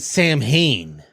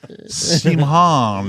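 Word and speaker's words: Samhain: to be said but it's like same harm or something like that it's very Irish Celtic yeah it didn't match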